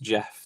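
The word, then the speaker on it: Gef: It's pronounced Jeff the way he said it.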